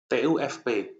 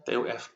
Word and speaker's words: TUFP: Yang pertama, kalian harus mencari TUFP. Ini bacanya TUFP ya, jangan TUF.